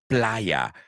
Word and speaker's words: playa: The second word is a word I know you all know, the word playa. I just hope you don't pronounce it like the word perra. Well, that's a mistake I've heard all too many times.